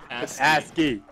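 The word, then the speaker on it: ASCII: penises every single one asky is that the proper way to say that you don't that's how you say that word asky okay no ask what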